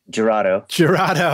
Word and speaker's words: Jurado: Am I pronouncing that right? Lagwagon. Lagwagon. Okay, great. Yeah. Producing and engineering albums for Damien Jurado. Jurado.